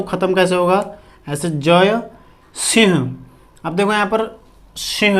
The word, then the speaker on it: सिंह: ठीक है, लिखते ऐसे हैं लेकिन उच्चारण इसका सिंह करके करते हैं, तो हम सिंह ही लिखते हैं इसको।